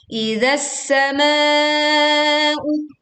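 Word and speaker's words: إِذَا السَّمَاءُ: Idzas sama'u. Lalu panjangkan ma 4 sampai 5 harokat atau juga boleh sampai 6 harokat. Asalkan kita membacanya istiqomah dalam satu kali bacaan.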